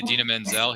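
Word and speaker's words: Idina Menzel: that year what was her name that he mispronounced it was Manzel and then it's actually Adena Manzel he just couldn't say it correctly I don't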